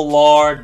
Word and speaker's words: Lord: saindo daqui da garganta não é com som de a e nem com som de o é um é uma mistura God é Deus My